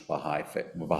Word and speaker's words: Bahá'í: But it's pronounced, and we pronounce it in English, Baha'i, and then faith.